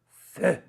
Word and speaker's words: Feu: And then lastly, my favorite color, Feu. That's right. I checked the French pronunciation.